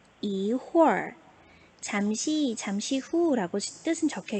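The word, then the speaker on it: 一会儿: 혹은 글자는 세 개인데 발음은 두 개.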